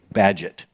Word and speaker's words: Bagehot: It's an anglicized French name, Bagehot, obviously.